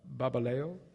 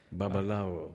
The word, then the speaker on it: Babalawo: You go to, now my Yorubin is a little rusty, a Babaleo, do I say it right? The medicine man in Nigeria? Is that the word, Babaleo? Babu? Babaulo. Oh, yes. Babalawo.